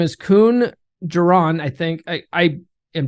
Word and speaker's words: Koen: I do know that that's how you pronounce his first name, Koen.